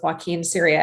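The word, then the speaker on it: Joaquin Ciria: So that is, I guess, the long story of the exoneration of Joaquin Syria. And you pronounced his name perfectly.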